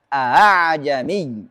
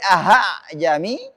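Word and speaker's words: أأعجمي: Ah, bacanya a'jami. Tidak boleh ahajami, tidak boleh a'ajami, dan harus a'jami.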